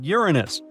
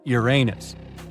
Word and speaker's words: Uranus: Actually, astronomers say we should be pronouncing it like Uranus, not Uranus. I can't say a different stress changes much, though.